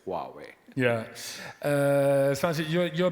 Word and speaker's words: Huawei: or as in the Dutch say who but that's completely wrong right well I guess you know uh not being uh originally a Chinese guy I it took me a while to pronounce it correctly so you pronounce it as Wai well uh when I'm with my teams I pronounce it as Huawei when I'm home and when I say huawe nobody understands so I say Huawei yeah uh San you're